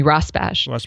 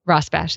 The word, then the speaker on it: Rosbash: individuals um i'll list them jeffrey hall michael rosebash i think that's how you pronounce it you can correct me rosbash yeah ross bash and michael young two are from brandeis and